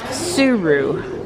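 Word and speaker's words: Tsuru: we had a good time here today it's pronounced suru spelled TSU are you and would be nice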